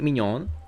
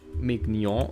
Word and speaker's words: mignon: Because, I mean, if I really cared about learning, I would have discovered that the G and N together are basically the same sound as the ñ in Spanish, a sound which I'm already familiar with, so I would have not struggled pronouncing it.